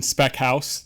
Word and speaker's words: Speckhals: My name is Speckhals. That's at least how I've always been told to pronounce it by my grandparents.